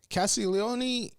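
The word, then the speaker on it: Castagnoli: Castiglione, wow, I said it properly for the first time ever. My God, like, God damn, there's a lot of syllables on that name.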